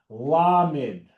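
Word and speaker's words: למד: So if you think the tallest letter, you think the word ladder. Ladder, la la la la la. Lamed, tallest letter in the Hebrew alphabet. Lamed, tallest letter in the Hebrew alphabet. Lamed, lamed, lamed.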